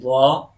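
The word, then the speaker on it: ظ: In za. So tip of the whole tongue between the teeth, okay, between the teeth and a little bit throat involved in pronouncing za.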